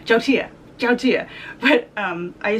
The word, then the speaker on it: yautia: saying it like a total gringa it's actually pronounced Joe Tia Joe Tia Jodi yeah but I say Yahoo do you